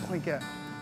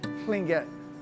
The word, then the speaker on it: Tlingit: If you mean indigenous person, yes, I'm a full-blooded Tlingit. Full-blooded? Tlingit. Tlingit. Tlingit, yes. How do you spell it?